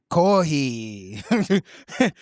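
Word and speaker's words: コーヒー: used to write foreign loan words, especially English words, by transcribing their pronunciation phonetically. For example, coffee is whatever that is. Because kohi.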